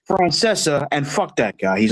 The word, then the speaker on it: Francesa: And also, it's pronounced Francesa.